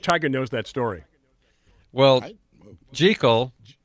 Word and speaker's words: Jekyll: Hyde Michael there's a tie-in there I don't think Tiger knows that story well gee Cole right is the way gertrude pronounces her last name and her brother was a friend of Robert Louis Stevenson who wrote who wrote dr.